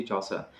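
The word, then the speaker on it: Chaucer: था तुम्हारा चौरी चौसर साहब किया थे इसे चौसर कहते हैं ठीक है जिफरी प्रोनंसिएशन में सुधार करना है अगर जिसको प्रोनाउंस सही नहीं कर पाते हैं जप चस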